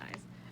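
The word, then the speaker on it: IZ*ONE: and then we have eyes i z which is pronounced eyes then i have also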